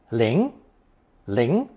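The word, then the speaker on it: 令: of the phonetic link pronounced second tone Ling Ling the character for rain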